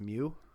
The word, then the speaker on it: Meux: I believe that's pronounced Mew.